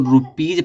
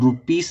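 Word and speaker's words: rupees: उच्चारण जा निकलता है, इसको रुपीज पढ़ा जाता है, रुपीस नहीं पढ़ा जाता।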